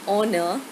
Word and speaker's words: honor: So, again, H is silent.